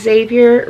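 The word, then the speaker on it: Zavier: And so he is Xavier Russell. And, you know, we did it with a Z because we didn't like the over pronunciation of the X for his name.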